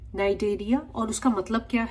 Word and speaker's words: Cnidaria: Stinging cells presence है cnidocytes जिनको बोलते हैं, hence the name Cnidarias, right? Here C is silent.